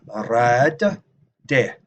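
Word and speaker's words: rǣdde: Remember, there's a double D there. Rad, de, double D. Right? Both D's are pronounced.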